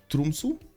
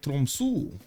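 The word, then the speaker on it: Tromsø: The O in Tromso is not pronounced as English O. It's more like a U. So it's Tromsu.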